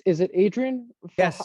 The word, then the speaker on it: Adrian: man how about yourself um it's is it Adrian yes how do you say your last name